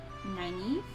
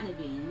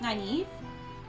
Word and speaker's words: Nynaeve: It was between Lon and Moraine and Nynaeve. I don't know why. It's not Naveen. We've determined that. I kept trying to call her Naveen, and it's not. I think it's Nynaeve.